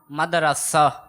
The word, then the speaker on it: مدرسہ: مدرسہ. را کے اوپر فتح. را کے اوپر فتح ہے. را کے اوپر آپ کہہ رہے ہیں زبر.